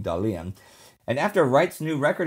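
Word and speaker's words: Dahlen: And yes, that is how you pronounce his last name, Dalian.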